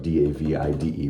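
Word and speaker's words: Davide: and David or David it looks like d-a-v-i-d-e but they pronounce it David so I looked it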